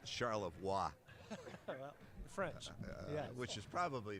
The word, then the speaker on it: Charlevoix: yeah they spent the night in Charlevoix uh Charlotte boy you're talking to an Ohio guys yeah yeah we don't know how to pronounce anything that's okay if you listen to